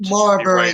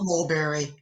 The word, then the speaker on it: Marbury: uh mulberry versus madison usurped marbury not mulberry i say mulberry and